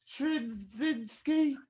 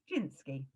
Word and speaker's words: Trzynski: Musical director, Jack Trzynski. Good try. Jinsky.